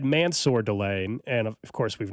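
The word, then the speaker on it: Mansoor: The draft pronunciation guide Thursday night said Mansour Delane, and of course, we've now figured out it's Mansour.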